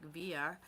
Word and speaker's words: Villa: lived in Albuquerque because Jim called it music via and I said well what's that there's probably the right way to say it but music Villa is probably the way that you're saying it up here is that like Spanish yeah yes uhhuh when you have two L's together they're kind of